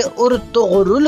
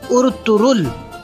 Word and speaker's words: Ertuğrul: दुरुस्त कर लें कि इसका नाम जो कि उर्तुगरुल कहा जाता है, इसका असल नाम है उर्तुरुल, क्योंकि ये तुर्की के बहुत बड़े मुजाहिद थे और टर्किश ज़ुबान में गैन का लफ्ज़